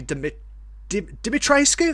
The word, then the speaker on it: Dimitrescu: to touch on it, Lady Dimitrescu, that's how you pronounce it, Lady Dimitrescu, she is